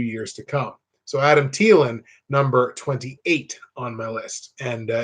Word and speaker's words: Thielen: to come so Adam Thielen number 28 on and if you pronounce it Ceylon I think you're wrong but that's okay there